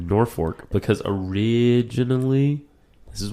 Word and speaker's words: Norfolk: is a Norfork Roy Norfork they call it it's spell Norfolk Nebraska everyone there pronounces it Norfork because AIG Al this